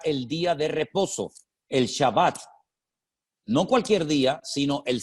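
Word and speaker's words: שבת: en el idioma bíblico la palabra es shabbat shabat de la cual procede con las mismas letras pero cambiando la pronunciación vocálica la palabra chebet que significa sentarse o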